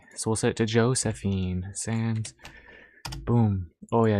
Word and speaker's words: Josephine: Okay, so we'll set it to Josephine.